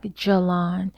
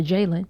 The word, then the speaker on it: Jelan: He was like, Jelan. And like literally broke down how to say his name. And I ain't even gonna lie to you, I was surely about to call the brother Jalen.